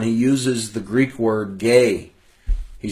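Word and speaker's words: γῆ: there's the word gay it's the transliterated GE but it's pronounced gay in the Greek and that word is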